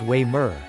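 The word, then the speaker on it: Weimar: never heard of it wear pronounced way mrr is not as quaint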